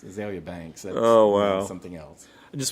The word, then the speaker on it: Azealia: Of course, it wouldn't be, but it's pronounced Azalea Banks, and she's had a couple of good songs that I like.